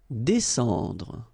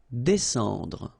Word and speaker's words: descendre: Descendre. Well, even if you've got this combination of S and C here, you just pronounce it S. Descendre.